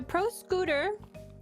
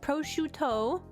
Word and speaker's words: prosciutto: I have a pro scooter, another pro scooter, a third pro scooter. If you're talking about if you're talking about that word, it's pronounced prosciutto.